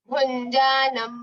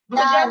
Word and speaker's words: भुञ्जानं: उत्क्रामन्तम् उत्क्रामन्तं स्थितं वापि भुञ्जानं वा गुणान्वितं। भुजंग भुजंग मत करो, भुजंग नहीं है या कोई।